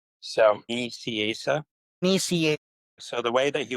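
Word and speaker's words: Nicieza: Just so you know, Fabian's name is pronounced so Asa.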